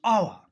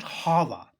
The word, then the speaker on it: hour: Our. It's not Hava. It's Ava because H is silent, so it starts.